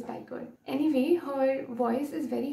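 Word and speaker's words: Bajka: I'm not sure if this is the correct pronunciation because her name is spelled B-A-J-K-A but apparently pronounced as Biker.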